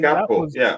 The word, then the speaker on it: Gakpo: I think Gakpo. That was what. Just pronounce it with a P.